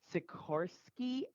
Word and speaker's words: Sikorsky: affected by today's I'm gonna say it wrong Sikorsky s-76 be that's exactly correct Sakura okay you